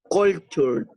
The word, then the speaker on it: culture: In English is a culture. Culture. Well, it's different. It's culture. Sure. At the end it goes like sure.